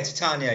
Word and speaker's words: Titania: parody account called T Titania is that how you would pronounce it yeah Titania yeah tan McGrath because she's based on the name is based on tatan from mids Night's Dream Queen of the fairies ah right got you